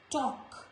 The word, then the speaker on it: talk: Before K also letter L is silent, like stock, chalk, talk, not talk, folk, no. It's talk, fork, walk, york.